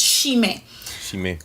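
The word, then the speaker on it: chimen: So this letter, being another digraph, is pronounced shh, as if you're telling somebody to be quiet. Shh. This word here, so if this is pronounced as shh, this word here should start by shh. So shime, right? To mean like the road, the streets, shime.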